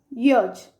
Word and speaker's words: yacht: Our last rule, the letter A is pronounced in O sound.